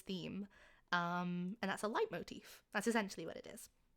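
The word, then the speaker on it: leitmotif: Um, particularly in music, it's called a light motif, which is spelled like L E T and then M O T I F.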